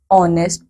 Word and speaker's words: honest: B, an honest person. C, an heir. बच्चों यहाँ पे हो क्या रहा है? We have used an before these words too because H is silent.